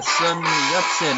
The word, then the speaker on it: Sun Yat-sen: Yeah, hey, do you know Sunburn? Sunburn? I think we call him Sun Yat-sen in English. I think you probably butchered the pronunciation of his name.